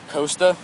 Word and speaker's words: Coasta: I'm here with Steve from Coasta. Am I pronouncing that right?